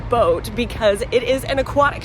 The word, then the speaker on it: boot: me boo boo Dusseldorf or as they pronounce it in German boat because it is an